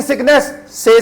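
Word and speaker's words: tsetse: pyorrhoea किससे हुआ स्लींग स से से फ्लाई टी साइलेंट है ना से से फ्लाई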